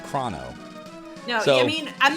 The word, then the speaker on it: Chrono: stream that's awesome so how do you pronounce Chrono the wrong way of krono or the correct way of Chrono no I mean I'm